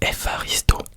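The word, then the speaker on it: ευχαριστώ: Donc Efharisto, qui s'écrit Efkharisto, pardon, mais qui se prononce Efharisto.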